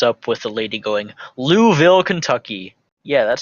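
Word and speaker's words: Louisville: where it opens up with the lady going louville Kentucky yeah that's how it's pronounced try again who just ignore that eye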